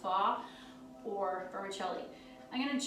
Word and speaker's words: pho: I like the traditional pho, it's pronounced pho, or vermicelli.